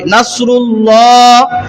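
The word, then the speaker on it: نصر: মোটা বলতে পর বলতে মোটা মান আল্লাহ হয় নাসরুল্লাহ যদি নাসরুল্লাহ বলেন তাহলে নিচের দিকে যায় আল্লাহ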